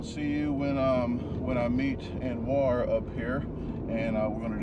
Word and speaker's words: Anuar: I already talked to him about on the vlog, but this is Anuar.